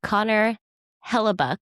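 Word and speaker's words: Connor Hellebuyck: Glory be to the goalie, Connor Hellebuck.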